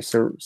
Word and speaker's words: Sarai: How do you say Sarai?